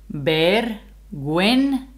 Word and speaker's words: vergüenza: If you have the G, U with the umlaut, the two dots, that means the U has to be pronounced. Yeah. So this one would be ver, remember that the V is a B, vergüenza, like a W.